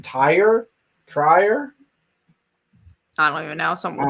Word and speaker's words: Tyr: Trier? I don't even know. Something with a T. Tyre. So it's Tyre.